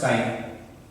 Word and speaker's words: chi: This pronounced is chi, but we write common way X as the symbol of mole fractions, but actual term is chi for symbol of mole fraction.